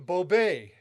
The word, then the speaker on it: Bobay: was so anyway i became bobay and with an accent on the e and and now and